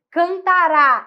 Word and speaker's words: cantará: Quando eu faço cantará, tônico, forte, é futuro.